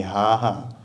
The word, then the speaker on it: Gaga: for example so good for ukrainians this is quite difficult sound to pronounce most of the time we just pronounce h so you'll hear people talking about Lady Gaga calling her lady haha that's because this letter